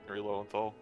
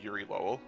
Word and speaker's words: Yuri Lowenthal: modern day fucking Yuri Lowenthal. Yep. Every time I say his name, I have to make sure to remind myself not to call him Yuri Lowell.